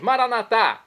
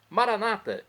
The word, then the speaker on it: Maranata: aramaico dialeto de Jesus como dizemos nós católicos maranat ou como dizem nossos irmãos separados os evangélicos ou protestantes Maranata não importa a pronúncia o significado é o